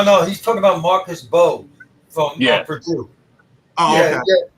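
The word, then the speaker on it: Mbow: No, no, he's talking about Marcus Bo from Purdue. Oh, the M em M is silent. It's Marcus Bo from Purdue.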